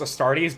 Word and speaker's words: Astartes: Yeah, it's in this universe it's pronounced Astartes, but the goddess's name is Astarte.